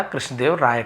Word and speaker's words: कृष्णदेव राय: वन डे he made a beautiful portrait of king कृष्णदेव राया। तो कृष्णदेव राय ऐसे बोलेंगे।